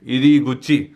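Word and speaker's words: 入口: कुची मतलब मुंह। तो इसको साथ ही साथ प्रोनाउंसिएशन इसका होता है गुची भी। तो ये हो जाएगा ईरी, मतलब ये है ईरी मतलब अंदर घुसना, ईरी और गुच्ची।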